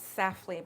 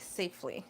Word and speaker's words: Safely: And I thought it was Safly, but it's actually Safely. I think that's how you pronounce it.